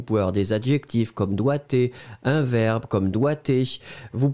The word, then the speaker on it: doigté: a plusieurs, vous pouvez avoir des adjectifs comme doigté, un verbe comme doigté, vous pouvez avoir d'autres